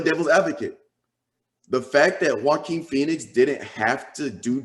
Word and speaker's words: Joaquin: Quan how do you say his name is Joaquin Phoenix yeah I mean he didn't do a